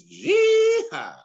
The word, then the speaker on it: jihad: Or no, you said it wrong. It's jihad.